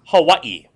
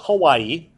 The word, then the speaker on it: Hawaii: okay one McKinley next ax is to Annex Hawaii now you guys just call it Hawaii but it's actually pronounced Hawaii Hawaii Hawaii that's why it has